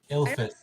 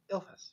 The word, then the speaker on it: Ilphus: I wrote it down so you guys could spell it somewhere. Ilphus. ILPHUS. Yeah, I was like, it's ill Oh, right. something. Ilphus, yeah.